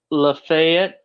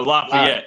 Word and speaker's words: Lafayette: law in his homana uh how do you pronounce that and they're out to get me lafette I can't oh Lafayette yeah Lafayette Indiana Lafayette yeah I actually have